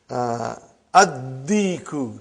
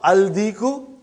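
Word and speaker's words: الديك: And when you will pronounce them with alif lam, you will not pronounce lam. Okay, look at this, brother. Come to number 3 and go down. Come to number 3 and go down. Addiku, not aldiku.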